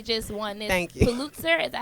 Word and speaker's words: Pulitzer: Pulitzer. Is that how you say it? A Pulitzer.